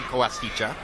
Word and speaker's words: Koasicha: That's a Japanese pronunciation, not a Spanish pronunciation. Kaskicha.